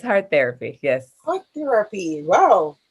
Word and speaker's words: hARTherapy: my name is shanoa heart therapy murray oh i was wondering because i would have pronounced it a therapy but i wasn't sure oh no it's heart therapy yes what therapy wow